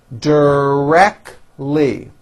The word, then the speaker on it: directly: many differences between us directly three syllables and most Americans drop the T directly she is directly re